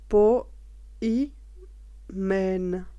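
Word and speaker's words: ποιμήν: est traduit du moule grec peau humaine prononcé peau y mène c'est que mopo humaine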